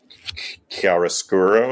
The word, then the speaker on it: chiaroscuro: It's got that kind of chiaroscuro. Am I pronouncing that correctly, Chris? Chiaroscuro Sure. lighting that Caravaggio is so associated with as a painter.